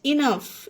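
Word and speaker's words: enough: laugh फा पढ़ा गया ई एन ओ यू जी एच इनफ इसमें भी लास्ट में जीच है इनफ मींस पर्याप्त सी ओ यू जी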